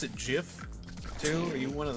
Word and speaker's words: GIF: And it's like, it's pronounced GIF actually. The creator came out and even said that, and it just cuts